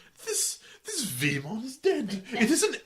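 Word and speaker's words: Veemon: He is in English, he'd always be Vmon, as in VEE, and then in the Japanese version, he'll just be letter V. This This Vmon is dead.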